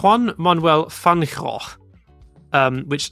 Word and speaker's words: Fangio: So Fangio, most people say Fangio, and that is an Italian name, but Argentine pronunciation, again, as I said, is a bit strange. So instead of Fangio, it's more like Fangio, something like that in Argentine Spanish, I believe.